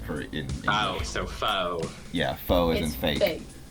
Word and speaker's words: faux: Faux or fox, it's spelled fox for in English. Oh, so faux.